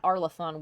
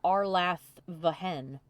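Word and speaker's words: Arlathvhen: No, I know that, but this one has a V in it. It's not Arlathon. We gather for the Arlathvahen.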